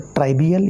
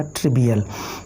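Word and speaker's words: trivial: ट्रिवियल या ट्राइवियल incident, दो pronunciation हो सकते हैं, तो ट्राइवियल या ट्रिवियल।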